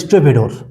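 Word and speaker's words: stevedore: এটা হচ্ছে কি বলবো, স্টেভেডোর, উচ্চারণটা হবে স্টেভেডোর।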